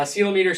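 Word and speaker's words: ceilometer: use something called a silo meter clometer I always say it wrong Silo meter uh sealometer shines a laser upward think sealing the ceiling of the cloud so it's a silo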